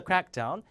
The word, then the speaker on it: crackdown: crack down on the 자 앞에다 강세주 명사가 돼요 cck down 단속 cracking